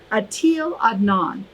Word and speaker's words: Etel Adnan: so her name is i'm going to look now so i say it right atil adnan and she is a poet she's a painter